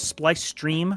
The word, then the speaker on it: SpliceStream: out my name is splice stream rhymes with ice cream uh twitch kick YouTube